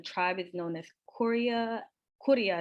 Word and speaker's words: Kuria: Kuria is how they pronounce it.